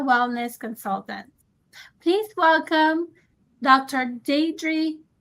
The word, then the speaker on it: Diedre: with us today so let's get into it dri am I uh pronouncing your name correctly absolutely yes it's day dream thank you so let me ask you the